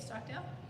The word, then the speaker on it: Stockdale: Stockdale wait is this how you say it Stockdale it is okay all right and we put